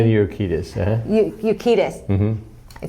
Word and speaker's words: Urquidez: Urquidez. I say that right. You said it right. Yeah. You're great. Benny Urquidez, and also thank you.